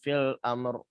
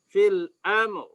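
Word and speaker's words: في الأمر: Ya, ini cara bacanya gini nih kalau menurut Pak Kiai ya. Fil amr gitu. Fil amr. Ya, ini versi Pak Kiai ya. Beliau membacanya dengan cara dinaber hamzah atau huruf ketiga sebelum akhir.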